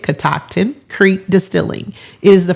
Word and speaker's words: Catoctin: Her name is Becky Harris, and she is the co-founder of Catoctin, that is how you say it, Catoctin Creek Distilling.